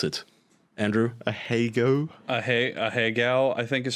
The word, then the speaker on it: ahegao: From what I understand, it's all she does is that anime hentai face, the ahigao. I don't know how to pronounce it. Andrew? Ahegao? Ahegao, I think is how you say it.